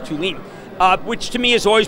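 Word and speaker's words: Thulin: It's T-H-U-L-I-N, but it's pronounced Tulin, which to me has always been the great portfolio company.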